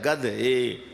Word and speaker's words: گدھے: ہی، گدے گدے ہیں۔ اور یار میرے تلفظ میں غلطی نہ سمجھیں، گدے نہیں کہتا، گدھے۔ قرآن حکیم جو ہے